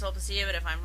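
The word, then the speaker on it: Sulpicia: Like Aro's wife, I'm pretty sure it's pronounced Solpacia, but if I'm wrong, feel free to correct me, okay?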